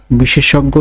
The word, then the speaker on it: বিশেষজ্ঞ: এভাবে লিখি কিন্তু এটার উচ্চারণ এইভাবে হবে বিশেষজ্ঞ বিশেষজ্ঞ এর উচ্চারণ হবে বয়সী তাহলে বা সয়কার তাহলে বা